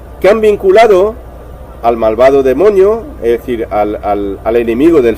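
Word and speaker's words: δαίμων: la palabra hispana demonio, demon. Aquí está la palabra escrita en griego, daimon, pero se pronuncia demon.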